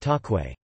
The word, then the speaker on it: cakwe: In Indonesia, the fried dough is known as kakwe, pronounced takwe.